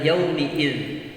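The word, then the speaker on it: يَوْمِ الدِّينِ: sering adalah jauh matiin ini bacanya adalah yaumiddiin harus diperhatikan Jangan sampai keliru dalam membaca huruf mim yang mestinya dikasroh tapi kita selalu membacanya dengan Fattah ya Umi dan berikut berikutnya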